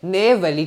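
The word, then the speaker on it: Neyveli: mine कौन सी आप जानते हो इट इज नेवली ठीक है स्पेलिंग देख लो एन ई वाई वी ए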